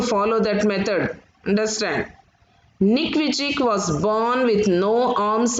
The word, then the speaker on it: Vujicic: Nick Vujicic, you have to write, but you should pronounce it as Vujicic.